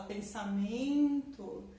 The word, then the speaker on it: pensamento: Pensamento, a sílaba mais forte é o men.